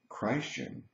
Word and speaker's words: Christian: I would say that when we say crashing we're giving the the credit the attention to the person of Jesus Christ and there can be